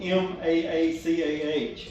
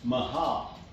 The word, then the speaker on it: Maacah: her name is spelled M-A-A-C-A-H. It looks like Maacah, but I looked up the pronunciation of it, and it's Mahah.